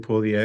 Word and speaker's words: Puglia: Can you give us the right pronunciation for that? Yes, it's Basilicata and Puglia.